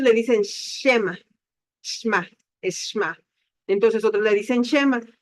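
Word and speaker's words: שמע: Bueno, estamos viendo aquí todo lo referente a lo que le llamamos o sabemos reconocer lo que es el Shema. Muchos le dicen Shema, Shma, es Shma.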